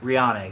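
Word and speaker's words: Rhiannon: How's that pronounced, babe? What? Rian? Rihanna? Rihanna, yes, that's it.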